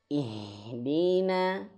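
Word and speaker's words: اهدنا: Cara bacanya ihdina. Nah, di sini huruf H. Huruf H dia makhrajnya di pangkal tenggorokan di sini nih. Ih. Maka alirkan anginnya ih. Dan besar ih gitu ya.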